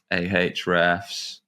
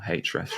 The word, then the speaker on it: Ahrefs: If I fire up ahrefs or hrefs rather as it's meant to be pronounced, I always forget.